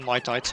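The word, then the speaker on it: Mitite: Oh, mitees or mite. I'm not sure. Sirius pronounces it as mite.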